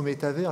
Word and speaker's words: métavers: Peut-être un jour, grâce au métavers, alors remarquez que je le prononce en français et pas la version anglaise, on pourra peut-être, comme